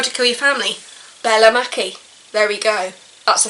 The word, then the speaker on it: Mackie: I've seen someone pronounce her as Bella Mackie, so I'm going to say Bella Mackie.